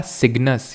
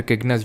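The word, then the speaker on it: Cygnus: है ये है हमारा सिग्नस या फिर किगनस जो भी इसको प्रोनाउंस करते हो सिग्नस ये जो कॉन्सिलेशन है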